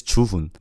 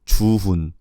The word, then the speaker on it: Juhoon: It's Chuhun. But make sure you pronounce it a little bit more monotone than what you could imagine. So don't say Chuhun. Don't say Chuhun. Don't emphasize. Just say Chuhun.